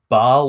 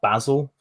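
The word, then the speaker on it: Basel: uh from Manchester to Bal or basil uh as it's spelled um which is just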